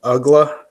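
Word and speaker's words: Uggla: He was with the Marlins, but this is Dan Ugla. Mm-hmm. And he ended his career with the Braves. Supposed to be hard when your name rhymes with damn ugly.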